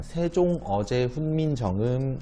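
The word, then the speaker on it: 세종어제 훈민정음: 써있는 보 와는 달리 그냥 세종 어제 훈민정음 이라고 읽으시면 돼요 4 써있는 것은 생긴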